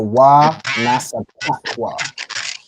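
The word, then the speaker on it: ונספחו: You want to make sure you pronounce that ka. It's still it's not a ha sound. It's still the ka, right? So wa nasa pakwa.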